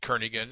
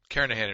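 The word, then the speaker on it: Kernighan: will be using the kernigan and Richie or Karan I should say the g is silent karahan and Richie C programming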